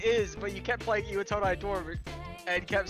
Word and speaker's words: Iwatodai: Iwatodai, okay.